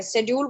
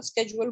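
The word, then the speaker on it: schedule: Languages में रखा है, शेड्यूल बोलते हैं, वैसे इसको सही प्रोनाउंसिएशन आजकल स्केजुअल बोलना स्टार्ट कर दिया, हम लोग इसको शेड्यूल ही बोलते हैं।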